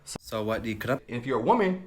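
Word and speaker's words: สวัสดีครับ: So to say hello, to greet, and this is hello, goodbye, good evening, you're just going to simply say Sawadee krap.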